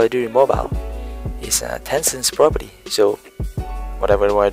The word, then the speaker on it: Tencent: I hope I pronounce it right. T-E-N-C-E-N-T. Tencent.